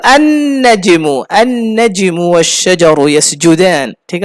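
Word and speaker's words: النجم: দেখুন, আল নাজমু উচ্চারণ করা কঠিন। আল নাজমু, লামের পরে নুন উচ্চারণ করা মুশকিল। আল নাজমু, এই জন্য কি করে দিয়েছে? আরে বাদ দে লাম, সরাসরি কি বল? আন নাজমু, আন নাজমু ওয়াশ-শাজারু ইয়াসজুদান।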